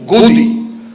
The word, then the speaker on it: Godi: So now they've coined a term in Urdu, which rhymes with Modi, which goes Godi.